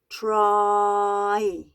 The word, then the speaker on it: try: we pronounce this word try so that the I sound comes right at the end this is what a dip thong is okay so this is